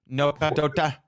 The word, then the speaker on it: Nokadota: Nokadota. Nokadota. Nokadota. You gotta say it like you're from the bush.